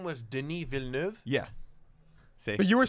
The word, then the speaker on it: Villeneuve: Villeneuve. You could say it because you speak French, but we couldn't say it. And I thought it was Spanish. I was like, it's Villanueva. And the guys were like, you're a fucking idiot.